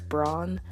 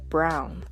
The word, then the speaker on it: Braun: season 4 is that even though I'm inclined to say it as Braun and that's usually how I hear other folks say it the characters in the show actually pronounce rer and Gabby's surname as brown so hopefully I can